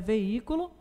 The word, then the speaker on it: veículo: Letra F, palavra então é veículo, e chegamos à conclusão, de acordo com nossas análises, que é uma palavra polissílaba e tem ali o acento gráfico na antepenúltima sílaba e, portanto, uma palavra proparoxítona, está bem?